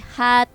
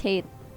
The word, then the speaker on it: Hate: And then it looks like IPT hat 4-3. Hat 4-3. That's how you pronounce his name? No, it's Hate.